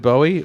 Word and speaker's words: Bowie: It's a knife. It's not a buoy knife. It's a Bowie knife.